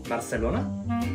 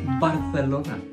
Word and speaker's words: Barcelona: America I mean pronunciation the C and the C Sound are pronounced differently Barcelona Barcelona that's right remember not to lisp your C's like the Spaniards do another very common thing